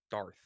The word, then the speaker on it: Darth: say dark dark dark so say dark but instead of C it's th Darth dark dark yeah Darth